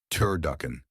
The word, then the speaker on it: turducken: Turd duckan. Three syllables. Primary stress on the second syllable. Duck.